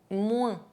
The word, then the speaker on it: moins: If the letter OI are followed by N, they can be pronounced ouin. Moi, moins.